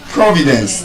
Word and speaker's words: Providence: Providence. That is an exception. Because it stresses on the first syllable.